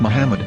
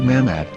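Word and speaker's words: מחמד: a after the H according to Ben yehuda's Hebrew English dictionary it is correctly pronounced as Muhammad not mammad so how we're going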